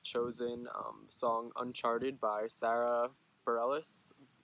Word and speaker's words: Bareilles: song Uncharted by Sara Bareilles Bareilles I'm pretty sure is how you pronounce it it's very much about